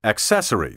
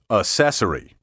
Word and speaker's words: accessory: it soft and Limp and that goes for the word accessory to don't let me catch you saying acessory if I do it